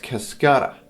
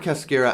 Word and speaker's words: cascara: It's actually pronounced Cascara, but I like to say Cascara because saying it Cascara makes me feel a little bit pretentious, so I prefer to use the latter, Cascara.